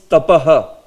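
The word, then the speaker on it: तपः: You will have to say yasmins tapah sumanaso bahumana yanti. Tapaha, this way.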